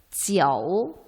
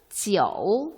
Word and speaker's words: jiu: 네, 지어우, 지어우 발음은 오 발음을 살려서 하지만 표기는 JIU 이렇게 하면 되겠죠.